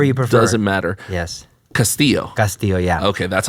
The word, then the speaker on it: Castillo: So you like the double L pronounced that way. Castillo, yes.